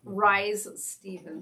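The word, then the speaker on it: Risë: R-I-S-E with an umlaut. She was an opera person, but she also did some Broadway stuff. Yes. Opera. Rise Stevens. Rise Stevens, yes. Okay.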